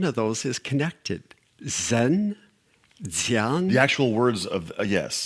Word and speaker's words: Dzyan: All right, the next word is Dzyan. Spell that.